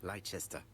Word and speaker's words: Leicester: conditions stated Pretty in sure our it's previous pronounced letters. Leicester.